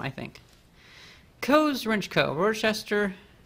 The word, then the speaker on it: Worcester: Worcester, or Worcester. I would pronounce it Worcester, though. Massachusetts. It might be Worcester.